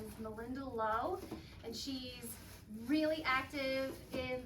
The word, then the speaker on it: Malinda Lo: make sure it's love hello my name is Melinda Lowe this isn't the name I was born with